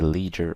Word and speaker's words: leisure: Obviously, depending on the pronunciation, you can say leisure or ledger. Both are correct.